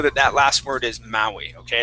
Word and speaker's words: Maui: And that that word there is Maui. Maui. Yeah. Those are Hawaiian words. Sometimes they're difficult to pronounce.